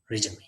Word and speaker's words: resume: So before we learn to write, we have to know what is CV or resume. You may have queries. So now let us try with the pronunciation of these two words.